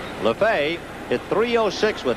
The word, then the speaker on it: Lefebvre: So Joel Lefebvre spells his name the same way, but pronounces it differently from the Dodger infielder Jimmy Lefevre. So Joe has it Lefebvre. Lefebvre hit .306 with 8 home runs and 39 RBIs during the year.